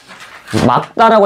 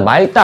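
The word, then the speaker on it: 맑다: 막다라고 해야 됩니다. 말다 아니야. 어, 중요해요. 말다 아닙니다.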